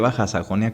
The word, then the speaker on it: Baja Sajonia: zona de baja sajonia pero baja pronunciada baja sajonia como baja california y baja baja sajonia este pero pues el